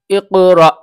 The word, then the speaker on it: اقرأ: بسم ربک الذی خلق۔ اس کے ہجے میں بتلاتا ہوں۔ حمزہ قاف زیر اق، را حمزہ زبر را، اقرأ، یہ والا جو الف ہے یہ حمزہ ہے، یہ حمزہ پڑھا جائے گا، الف نہیں، را حمزہ زبر را۔